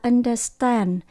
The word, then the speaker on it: understand: Từ understand, chúng ta nhấn âm số 3, understand.